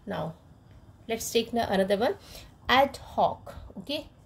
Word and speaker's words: ad hoc: Channel first okay now let's take another one ad Hawk okay how to pronounce it this ad hoc okay adhoc which means arranged for a special